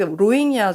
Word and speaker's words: 로힝야: 그래서 어 로잉아 문제가 현지 발음은 로잉자인데요.